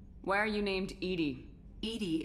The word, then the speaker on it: EDI: are you named Edie Edie is the phonetic pronunciation of EDI that is an acronym for enhanced defense intelligence let's call her bob